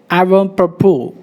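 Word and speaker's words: avant-propos: Next word, avant propos. T is silent, S is silent.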